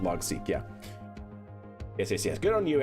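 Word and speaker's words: Logseq: Logsec or Logseek? Yeah, like logical sequence is what it stands for, but it's pronounced Logseek.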